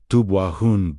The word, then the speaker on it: Tubwayhun: Behind the Syriac Aramaic tradition of the Beatitudes, stands Tubwahan pronounce Tubwahoohn blessedness, flourishing, a favorable state of being.